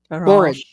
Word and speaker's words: borage: Yes, Barrage, barrage. borage, I do barrage. hear people say borage too. I don't think you could go wrong either way because you'll have support on either side.